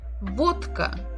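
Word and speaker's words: водка: we have the word vodka vodka vodka alcoholic drink Vodka final letter the final sound is vodka it is a it is what a vowel glass now it is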